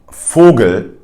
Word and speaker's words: Vogel: For instance, in words like Vogel, which is bird in German, it is pronounced as an F, as you can hear.